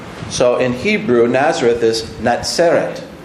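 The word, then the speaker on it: נצרת: So in Hebrew, Nazareth is Natseret. 那所以在希伯来文，它那个就是 Netzer。 Natseret, Netzer.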